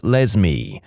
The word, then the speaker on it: Lesme: My mum is a public school librarian, and the cringiest name she's encountered so far is a girl named Lesme, pronounced like Leslie but with an M.